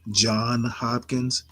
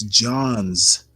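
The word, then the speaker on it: Johns Hopkins: my pet peeves is when people pronounce it John Hopkins it's John's with an S Hopkins so just had to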